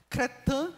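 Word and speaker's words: crétin: bom a palavra cretino ela vem do francês é a pronúncia não é essa tá cretan n que quer dizer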